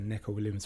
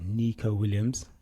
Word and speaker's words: Neco Williams: and he literally said, "My name is Nico Williams, not Neco Williams."